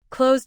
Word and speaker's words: closed: Closed ends with voiced z, so use d.